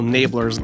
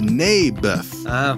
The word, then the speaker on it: Naboth: I like this little Nablers guy. You mean Naboth? Yeah, that's what I said. Mayberf. I think you're saying it wrong. His name was Naboth.